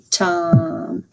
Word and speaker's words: tam: yes so it's tom but it's spelled t-a-m alright let's try this